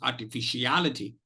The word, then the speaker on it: artificiality: Al will take the maximum energy, will take the maximum stress. So that is why it is called primary stress. R and fish will be secondary stress syllables.